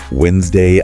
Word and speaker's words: Wednesday: gives this list of common words with silent letters yeah like Wednesday Island comb yeah Island that Des